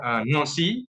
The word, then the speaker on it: Nancy: in the city in the region its name no see okay it is spelled like Nancy but the pronunciation is actually nasty so you can very nice some overview for building on see you have a very nice view of Plus